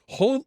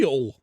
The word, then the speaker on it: Hull: Up the Hull. You're not allowed to pronounce the H in Hull.